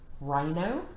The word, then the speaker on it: rhino: which is and psychic rh says er rhino and we have wr